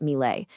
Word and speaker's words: Milei: President Javier Malai, that's pronounced MLE, is using what he calls shock therapy to fix a broken nation.